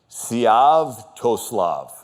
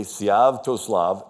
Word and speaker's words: Sviatoslav: So Olga is now ruling Kiev till her son, and it's a little tricky pronunciation, Sviatoslav. Okay, Sviatoslav, till her son was old enough to take power.